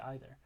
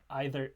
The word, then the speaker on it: either: either and either um normally those would be um different phonemes you have a diphthong on one cent and a long e uh on the other however for this particular word um those vowels are in free variation the words are basic the pronunciations are in free variation you could say either either either or either and it would mean the same thing to you and to